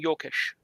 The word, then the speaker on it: Joachim: If he's from Germany, if he's from Germany, it's Joachim Jokish. Jokish, okay. You pronounce the J as a Y.